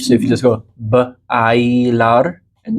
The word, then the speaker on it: bailar: I learned it as Baylor, but okay. Bailar. Bailar. Yeah.